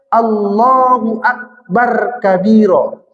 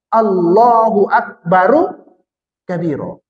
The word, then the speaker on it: Allahu Akbaru kabiro: Jadi ketika baca takbir pun terbaca dia Allahu Akbar kabiro. Salah itu. Itu rohnya itu dibaca bar kalau berhenti. Tapi kalau dilanjut dengan kabiro, hidupkan dia balik. Berarti cara bacanya Allahu Akbaru kabiro.